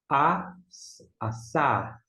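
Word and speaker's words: עָשָׂה: Mais um com Ain, que não tem som, pega o som emprestado do Kamitz, A, aqui é um S, A, e o Re não se pronuncia. Assar.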